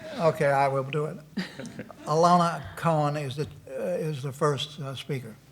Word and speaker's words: Ilona: It's Ilona. I'll take anything close. There's an O, not an A.